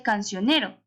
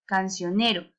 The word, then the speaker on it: cancionero: Ni, porque uno dice cancionero. ¿En dónde está la mayor fuerza de esa palabra? En ni, cancionero.